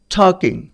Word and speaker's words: talking: টকিং, এখানে কিন্তু দেখো TALKING, এখানে কিন্তু এল এর উচ্চারণ হচ্ছে না, এল কিন্তু সাইলেন্ট থাকবে।